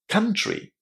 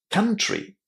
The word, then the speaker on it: country: Country. Country. The OU in this word is actually pronounced as a very short A sound, exactly the same as in the word but or just.